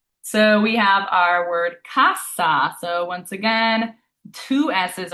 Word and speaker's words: casa: difference in those pronunciations, because if you say casa, you're saying house, casa, you're saying register, so you're saying two completely different things just by slightly changing your pronunciation.